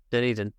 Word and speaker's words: Dunedin: Let's just use the most recent one, Dunedin. Is that how you pronounce it? Dunedin, yeah.